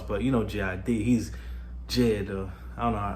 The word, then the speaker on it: JID: Like, you know, you get like a little 8 bars, but you know JID, he's Jid. I don't know. I think he pronounces it Jid, but I call him JID.